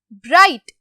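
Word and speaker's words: bright: ब्राइट, ब्राइट, ठीक है, कहीं पर भी जीएच की साउंड आई आपको, ब्राइट बोला है मैंने, नो इट्स ब्राइट, तो जीएच क्या हो जाएगा, साइलेंट, तो इनको जीएच को हम क्या कर देते हैं, अंडरलाइन।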